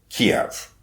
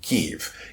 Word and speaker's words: Kyiv: slotted to go through Kiev, or as we're now saying, Kyiv. Kyiv is more the Ukrainian pronunciation. Kiev is more the Russian.